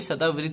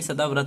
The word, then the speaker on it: सदाव्रत: मंदिरों से संबंधित है तो पहली बात तो सदा वृत नहीं होगा सदाव्रत होता है ठीक है जब इंग्लिश